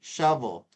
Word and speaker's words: shovel: And that has a V, shovel. Shuffle, this is shuffle with an F.